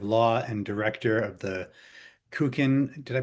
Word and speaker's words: Kukin: Uh, Professor Schneider is the professor of law and director of the Kukin. Did I pronounce that correctly, Andrea? You did. Thank you. Kukin program for conflict resolution at the Cardoo School of Law in New York City.